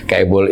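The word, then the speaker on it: chaebol: Jadi struktur pelaku usaha itu kabel tadi kabel ya bacanya kabel itu bisa eksis tetapi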